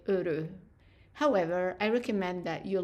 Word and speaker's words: heureux: So the word happy in French, when it's masculine singular, it's heureux. Notice I'm not pronouncing the H and I'm not pronouncing the X either. So heureux, heureux.